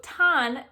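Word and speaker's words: Thanh: don let me let me see how you pronounce her name pretty straightforward okay thank you youtube so tan is the main character's name she's this princess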